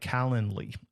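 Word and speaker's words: Calendly: Then you can get up uh set up a tool like Calendarly. It's like calendar, but not Calendar. It's calendarly.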